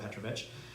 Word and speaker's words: Petrovich: He said I think it could go either way, but he pronounces it Petrovich.